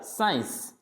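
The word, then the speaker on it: science: फिर साइंस, आप सब पढ़ते हो साइंस, तो इसमें सी तो यानी सी का प्रोनाउन क्या होता है, कै होता है, यानी इसको पढ़ना ही नहीं है, तो यह क्या पढ़ा जाएगा, साइंस। फिर मसल्स, मसल्स, मसल्स बोल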